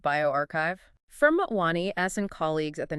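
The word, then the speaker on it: bioRxiv: That's a preprint on biov that's pronounced bioarchchive firmwani asen colleagues at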